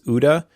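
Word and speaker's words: OODA: I think you pronounce this UDA, O DA.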